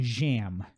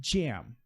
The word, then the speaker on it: jam: Então aqui, ó, a letra J é como se você falasse isso aqui, ó. Jam. É como se tivesse um D aqui na frente. Para nós em português, pensando em português, né? Para você fazer uma picture do fonema aí. Então o J tem esse som. Jam. Just. Percebe a diferença? Eu não falo jam. Não falo isso. Eu falo jam.